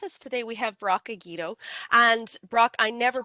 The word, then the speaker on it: Egeto: It's pronounced Egeto. It's Haha. yeah, you were close. You were close. It's a Hungarian name, very unusual, very uncommon. But yeah, Egeto.